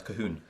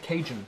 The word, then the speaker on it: Cajun: the cajun cajun fries which i used to pronounce kahoon that's very much not in a calorie deficit is it yeah how is it pronounced kate cajun cajun apparently c-a-j-o-n okay john okay what's number